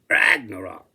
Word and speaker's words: Ragnarok: "Ragnarok," he said, accenting the first syllable.